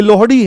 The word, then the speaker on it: लोहड़ी: लोहड़ी ठीक है लोहड़ी ये लोहड़ी है ठीक है इसका उच्चारण गलत करते हैं लोग एक ऐसी रील आ